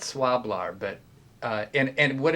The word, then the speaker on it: Swlabr: hard to pronounce it's it's spelled s-w-l-a-b-r i call it swab-lar but uh and and